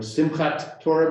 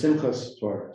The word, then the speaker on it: Simchat Torah: So Shabbat in Hebrew becomes Shabbos, or Sukkot becomes Sukkos, or Simchat Torah becomes Simchas Torah.